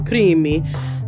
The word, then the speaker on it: Crimi: with us John Paul creamy I love your last name and who's saying it like you so you told me to say it like a like an Italian three minutes right beautiful